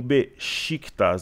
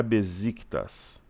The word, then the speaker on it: Beşiktaş: que é a pronúncia assim como o Beşiktaş, não é Beşiktaş.